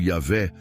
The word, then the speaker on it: Yavé: todos os efeitos quem os judeus chamam de Javé ou yavé na pronuncia correta não é um ser